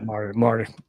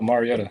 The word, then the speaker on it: Mariota: Yeah, Marty. Oh, Mariota. Okay. Marcus. I butchered that name, didn't I?